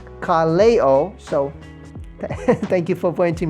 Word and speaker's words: Kaleo: i'm really sorry um i always said kaleo kalio kaliyu that's what i'm that's why my that was my pronunciation but somebody pointed me out that it's carleo so thank you for